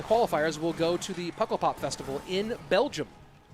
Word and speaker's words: Pukkelpop: Did I say Pukkelpop? I said Puckle. I think it's pronounced Pukkelpop. Not entirely sure.